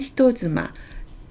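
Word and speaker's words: 人妻: 남의 아내, 유부녀를 나타낼 때는 히토즈마, 쯔가 타금이 붙어서 즈가 되죠. 히토즈마라고 읽습니다.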